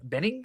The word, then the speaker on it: Bening: and I think Annette Bening, or how do you say her name? Benning, something like that. Annette Bening. I think you said it. You said it. You said it right.